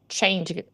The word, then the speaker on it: changed: There's no vowel sound there. It's just changed.